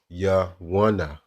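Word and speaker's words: יונה: But when you go into the ancient Hebrew, it'll be Yawana, Yawana, Yawana, all right?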